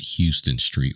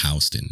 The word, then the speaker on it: Houston Street: have you been to this yeah i mistakenly pronounced it houston street when i was there and it took a